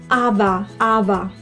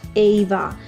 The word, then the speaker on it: Ava: anyone being called Ava, which is actually pronounced Ava, not Ava.